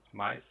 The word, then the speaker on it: Mais: Yeah, my name is Martin and my my last name is pronounced mice.